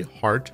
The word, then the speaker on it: Hart: You can check her out on Instagram at Mallory Hart Art. It sounds like it's spelled, and there's no E in heart. Mallory Hart Art.